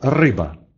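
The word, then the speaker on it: ryba: Звук «р» в польском языке всегда твердый. Произносится он твердо, точно так же, как и в русском языке. Например, в слове «рыба». «Рыба» так по-польски то же самое значит, что и в русском языке «рыба».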